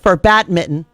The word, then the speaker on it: badminton: Paul posted in here the descriptor from the dictionary for badminton, and the T is silent. Badminton. It's the T's silent. The T's in brackets.